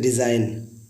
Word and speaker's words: design: अब example next है डिज़ाइन, DESIGNE। देखिए साइन डिज़ाइन सिमिलर है, एन से पहले जी आया तो हम लोग उसको पढ़ेंगे डिज़ाइन, जी हमारा साइलेंट है।